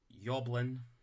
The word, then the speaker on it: Yoblin: That's Yoblin. Like, spelled like Ewan. Ewan. Yoblin.